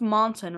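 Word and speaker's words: Mohnton: for now it's perhaps mountain right Monson it's pronounced Mountain oh okay yeah it's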